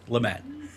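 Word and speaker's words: Le Mat: Lamont. Lamat. How do you guys pronounce that? Lamat. Lamat. It's It's how he says his name. Lamat.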